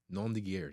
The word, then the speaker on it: nom de guerre: Am I pronouncing this right? Nom de guerre. Nom de guerre, yes.